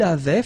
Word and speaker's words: avait: Il avait, final T not pronounced.